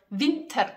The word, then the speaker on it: Winter: Again, we say the R. Winter. We pronounce it. Winter. Winter. Not Winter, like in German.